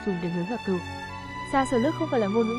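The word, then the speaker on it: шашлык: có dùng qua món thịt nướng, tiếng Nga phát âm gọi là xa sờ lức, người chúng ta gọi là thịt nướng cừu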